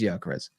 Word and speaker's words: Gyökeres: Yeah, his name's, we say Gyökeres because we're, when you're ignorant in your English, you think David is not David sometimes. So it is Gyökeres. Victor Gyökeres. That's how you say it in Swedish as well.